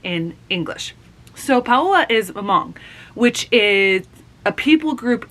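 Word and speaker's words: Hmong: all of these different things they are not pronounced how we would think in English so paa is mong which is a people group in the Vietnam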